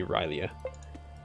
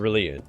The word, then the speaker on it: R'lyeh: of it's really a i've always said really it might be reillya it's a really yeah that's how you say it uh where am i